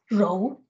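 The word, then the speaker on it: 柔: Okay, the next character then is pronounced as rou, and it's often literally translated as being pliant or flexible.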